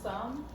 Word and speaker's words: some: Remember, our sight word some, the O goes up and E is silent. That's why O and E are silent in the word some.